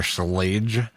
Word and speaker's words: Schlage: Schlledge. What has sl Yeah, it's a it's a mouthful just to say like a a one syllable name. Yeah. Yeah, it is. It's the extra L in there. Schlage.